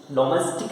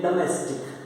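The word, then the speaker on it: domestic: डोमेस्टिक नहीं, इसको बोलते हैं डोमेस्टिक, डोमेस्टिक बोलते हैं। ओ को आ में बोला जाएगा, ओ को आ में बोला जाएगा।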